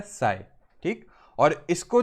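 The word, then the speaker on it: psi: सा सिंबल बना है इसका नाम होता है साईं ठीक है पी साइलेंट होता है साईं ठीक और इसको जो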